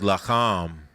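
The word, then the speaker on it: לָחַם: The word for war is lacham. It's actually spelled almost exactly the same. Lacham. It's a different pronunciation.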